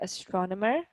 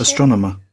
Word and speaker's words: astronomer: So as you can tell, within the American pronunciation, you need to basically pronounce till the end, astronomer. So we need to hear the air at the sound, at the word. With the American, with the English one, not really. Astronomer. More like m, astronomer.